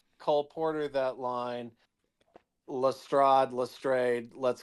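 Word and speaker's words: Lestrade: By the way, these movies can't make up their mind about how that name is pronounced. Movie to movie. It changes. I've always said Lstrad.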